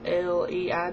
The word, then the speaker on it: Leigh: name is, but it's spelled L E I G H. And if you think about it, how do you spell sleigh? like Santa slay s L E I G H. So they pronounce my name, but if you think about that, it's really lei, but I've always been, so